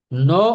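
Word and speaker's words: know: সো দুইটা উচ্চারণ হচ্ছে, একটা হচ্ছে নো, নো, আর একটা উচ্চারণ হচ্ছে নাও, নাও, নাও, নাও, এখন। সো সবাই খেয়াল রাখবেন, নো অর্থ হচ্ছে জানা, নাও অর্থ হচ্ছে এখন, এই দুটো হচ্ছে পার্থক্য।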